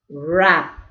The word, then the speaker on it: wrap: Rend, right, wrap. So did you notice WR is pronounced as R sound, okay?